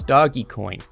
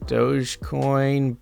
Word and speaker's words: Dogecoin: after them such as doggy coin i think it's pronounced dogecoin but it's literally spelled doggy coin dog e coin i